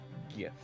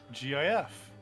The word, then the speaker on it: GIF: pronounce the word GIF? GIF. There it is, folks. GIF.